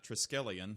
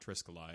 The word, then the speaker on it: triskelion: go the ones uh triskelion is the name of it not triscoli and i thought it